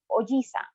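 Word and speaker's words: おじいさん: grandfather oji again notice how i prolong the g with the grandfather and how it is cut short with the uncle in ojisa now be careful in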